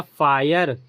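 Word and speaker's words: fire: तो हर वर्ड में आई के बाद आर इ आ रहा है ना। तो वहां पे आई का उच्चारण आई निकलेगा। तो इसका क्या बन गया? फायर वायर tyre.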